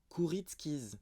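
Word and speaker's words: Kuritzkes: voir alors Justin CR alors comment on dit kuritskis kuritskis Justin kuritkis voilà dramaturge ma foi un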